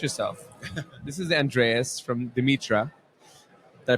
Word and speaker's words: Dimitra: of all introduce yourself this is Andreas from demitra did I pronounce that right Dimitra yes Dimitra and this is again going back to the